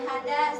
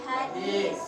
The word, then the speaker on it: hadis: Baik anak ibu, bukan hadas tapi hadis.